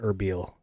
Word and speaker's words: Erbil: I probably butcher it when I say Erbil. that wrong? Erbil. No, you're saying it the right way.